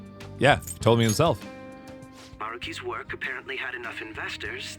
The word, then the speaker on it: Maruki: First, regarding Maruki himself. Also, I've been saying his name wrong this whole time. His name is Maruki, not Maruki.